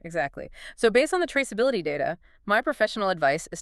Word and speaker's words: traceability: It's a mouthful. 5 syllables. Traceability. And where does the stress go? It hits that middle syllable.